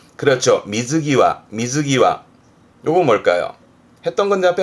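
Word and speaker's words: 水際: 발음은 그렇죠. 미즈기와.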